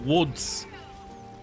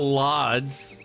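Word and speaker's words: Łódź: l o DZ and you're like no it's pronounced Woods it's not LS Poland man why is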